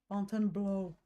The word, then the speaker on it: Fontainebleau: It's pronounced blow. Every time I say it in front of my friend, she reminds me it's blow. Fontainebleau.